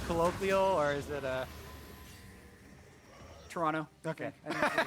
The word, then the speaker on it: Toronto: prepare to head to Toronto I was told actually by a tweet it's pronounced Toronto with no uh no t oh yeah today I